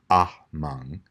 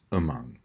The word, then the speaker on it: among: In the second word, among, some people say among, but the most common pronunciation is just among.